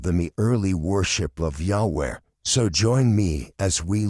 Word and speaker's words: Yahweh: But most scholars agree that the pronunciation is Yahweh.